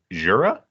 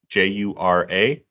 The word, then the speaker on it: Jura: So it's on a island there, and I think I looked up this pronunciation beforehand as Jura, Jura.